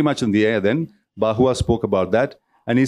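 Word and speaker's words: Barrois: It's B-A-R-R-O-I-S, pronounced Bahua, who spoke about the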